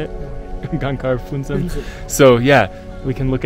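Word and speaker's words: Gangkar Puensum: Gangkar Phuntsem.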